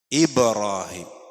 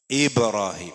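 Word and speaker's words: إبراهيم: മുമപ് ചെറിയൊരു മദ് വരുന്നുണ്ട് ഇബ്രാഹിം ഇബ്രാഹിം അല്ല ഇബ്റാഹിം അതാണ് ശരിക്കുള്ള ഉച്ചാരണം ഈബ ഇബ്റാഹിം കാരണം ബാ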